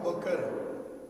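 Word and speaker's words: بَکر: بکر پڑھا جائے گا، بکر پڑھا جائے گا، بکر پڑھا جائے گا.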